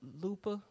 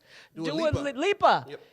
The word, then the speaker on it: Lipa: see a picture cause dua lupa do i always say her name wrong i like your music though lipa and uh meg the